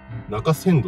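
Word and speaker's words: 中仙道: 中仙道って読む。中仙道です。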